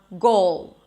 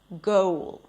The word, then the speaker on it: goal: or before another syllable, like only instead of only, or goal instead of goal.